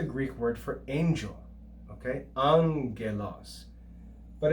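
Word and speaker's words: ἄγγελος: not as ag but the first gamma is pronounced like an n or a nu and we read this as an and that's the greek word for angel okay angelos but it's actually spelled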